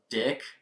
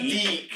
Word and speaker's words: DiC: The 3 fantastic shows from Dick. Dick. It's pronounced Deek.